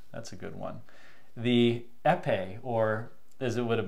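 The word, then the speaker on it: Épée: Torero, the Dimatis, that's a good one, the Epe, or as it would have been pronounced, the EP, you know, like the EPEE.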